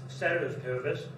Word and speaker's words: ceteris paribus: Now the one that we use in economics a lot that you may not be aware of is the Latin expression ceteris paribus, or sometimes pronounced ceteris paribus, and it's Latin for all else being the same.